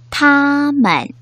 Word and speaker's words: 他们: 원어민 선생님의 정확한 발음을 잘 듣고 따라 발음해 보도록 하겠습니다. 他们他们 네, 他们이라고 표현하죠.